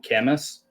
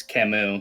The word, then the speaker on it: Camus: Many people probably call him Camus. It's Camus because it's French.